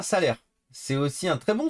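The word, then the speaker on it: Salers: Salé, prononcé comme salaire. Ah, salaire.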